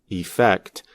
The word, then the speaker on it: effect: The confusion happens because we often pronounce the two words the same way. When we are speaking quickly, the first vowel of the noun, effect, is reduced to the quick sound, affect, which is the same sound as the verb.